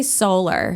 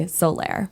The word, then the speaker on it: Soler: your last name so we say solar okay the correct pronunciation would be solaire okay is that is